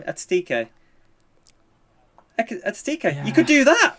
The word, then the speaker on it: Ekitike: Ekitike.